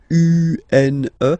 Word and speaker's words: une: Then the feminine article is here, and it's easier because if you have this U, N, E, then you pronounce it une, une. Okay, masculine, un, feminine form, une, une.